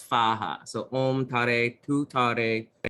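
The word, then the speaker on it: स्वाहा: So in this particular one, in some translations, they pronounce the last part of the mantra as Soha, but in this one it's Svaha.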